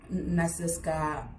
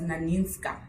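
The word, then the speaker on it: Nanisca: And we see that through Viola Davis as Nasiska. Sorry, am I saying it correctly? I wrote it down. Those names were a bit tricky. Oh, it was Naninska.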